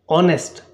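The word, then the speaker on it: honest: ऑनेस्ट। ओ का sound आ रहा है या नहीं आ रहा है? एच जो है हमारा यहां पर साइलेंट है।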